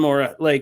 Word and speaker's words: Mora: More, yeah, just more. By the way, Dan Mora.